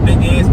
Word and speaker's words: beignet: Beignets or the donuts they're pronounced Beignets but they're spelling big Nets in English but but they're so